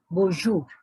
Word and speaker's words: bonjour: the french language like the last letter is either not pronounced at all or it has got half a sound so bo bo means